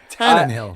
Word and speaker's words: Tannehill: Tannehill. It sounded like you were like put an exclamation point. Tannehill. Cojito. Cojitos. He said Screw you he guys. looked directly at you and he was like, Tannehill.